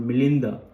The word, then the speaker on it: Menander: Anyway, the story goes that story or semi-historical story goes that there was this Greco-Indian emperor called Menander, the Greek pronunciation, and the Buddhist pronunciation is Milinda.